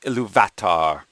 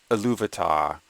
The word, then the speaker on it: Ilúvatar: going to hear, you'll hear the narrator say Ilúvatar, or some people pronounce it Ilúvatar, which is the name of the one god in Tolkien's mythology, sometimes called Eru.